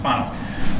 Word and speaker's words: Spanos: So like in the late 1990s and early 2000s, the Spanos critique, we called it Spanos at the time, but I think we figured out later that his name is actually pronounced Spanos.